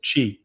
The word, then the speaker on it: Qi: a key charger or QI or whatever, just like Chi. take the copper Pronounced Yeah, chi.